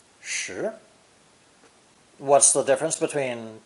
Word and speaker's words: 食: And is pronounced 2nd tone, 食, 食.